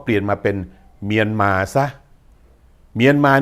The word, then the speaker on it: เมียนมา: 2 คำ ก็ แล้ว กัน จะ บอก ว่า เมียน มา ก็ ได้ ต้อง มานะ ถ้า อัน นั่น อยาก